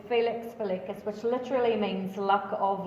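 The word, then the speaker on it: Felix Felicis: is Felix the latest I know that's not heists local slugworth sort of way Slughorn pronounces it in the films but the proper lamian is Felix feluccas which literally means luck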